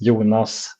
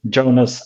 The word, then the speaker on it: Jonas: the language here yeah so in Swedish I'm Swedish my name is yunas or in the American version is like y Jonas okay I